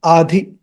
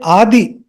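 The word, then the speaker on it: अधि: So this is the combination of two words, Viprayoga and Adhi.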